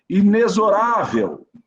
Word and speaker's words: inexorável: Inexorável, tá? Sinônimo de rígido, inflexível, tá? A pronúncia é inexorável. Então, o X tem som de Z, certinho?